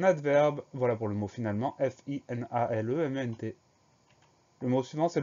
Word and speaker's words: finalement: Le son en s'écrit E-N, et à la fin du mot, on a une lettre muette, le T.